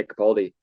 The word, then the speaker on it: Capaldi: Lewis how do you say his last name cap Baldi yeah Capaldi uh in two weeks and so this is